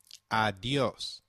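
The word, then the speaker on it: adiós: Did you notice the accent on the O in adios? If a word is marked with an accent, then that syllable receives the stress.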